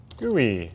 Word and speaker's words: GUI: I need to create a new Java project gooey Tick Tac Toe graphical user interface I pronounce it gooey because that makes it funny